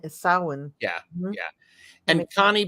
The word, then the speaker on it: Samhain: it makes sense in the way that it's pronounced sawin not you know sah Hayne sawin yeah yeah and Connie B Connie B black